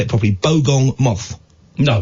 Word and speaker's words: bogong moth: permitting um have you ever heard of the bong Ma I say it properly bogong moth no it's the only insect they think that